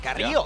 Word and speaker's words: Carrillo: I gotta say, I appreciate the pronunciation. Carrillo. Hey, Carrillo. He rolled that R pretty well.